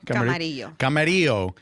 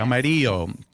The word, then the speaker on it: Camarillo: Camarillo. Yes. Camarillo.